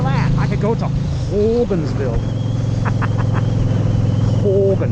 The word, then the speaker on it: Hogansville: You have to say it like that. Ho. Ho. Put your, open your mouth and put your tongue at the back of your throat and say it with me.